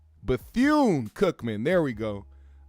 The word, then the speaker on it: Bethune-Cookman: Bethune-Cookman. There we go. I was gonna say Bethune with an M, but it's Bethune with an N.